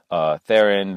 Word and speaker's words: Theron: your host Theron Theron that is as in the actress Charlize Theron she's actually related to